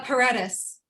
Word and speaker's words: Paredes: last name before uh how do i pronounce it uh paredes okay that's how it sounded in my head all right yeah i mean that's that's the angle way of saying it otherwise i you would